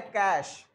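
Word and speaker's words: cache: इज the meaning of इसका उच्चारण होता है कैश कैश मेमोरी होती है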